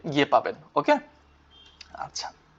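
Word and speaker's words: ぱ: যাই হোক, তো এটা উচ্চারণ কি হয়ে যাবে? পা। হাতে হয়ে যাবে কি? পা। যখন মারু বসবে উচ্চারণ হবে পা।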